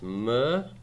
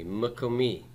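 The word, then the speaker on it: מקומי: It's got to become a vocal shiva. Open propertonic syllables reduced to vocal shiva. So it's m-ko-mi. Say that with me, m-ko-mi.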